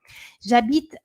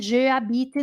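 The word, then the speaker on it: j'habite: aqui ó jaita gente presta atenção nessa pronúncia jbit jbit não é je abit não hein Jab é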